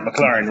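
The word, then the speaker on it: McLaurin: to appear with uh terry mclaughlin um that's how i pronounce it mclaren mclaren right there you go um and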